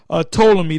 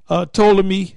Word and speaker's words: Ptolemy: Ptolemy, the P is silent, all right? Ptolemy the first, and Ptolemy the second, his son, Ptolemy Soter and Ptolemy Philadelphus.